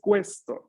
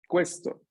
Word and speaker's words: questo: Atención, aquí es questo, ¿no? La U se pronuncia, questo.